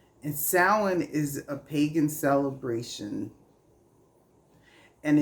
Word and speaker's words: Samhain: a it's actually called sa it's not spelled that way but that's how it's pronounced and sin is a pagan celebration